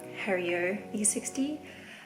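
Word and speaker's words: Hario V60: tools that i have and i've used i pronounced the pore over incorrectly it should be hario e60 i wouldn't say what i was saying but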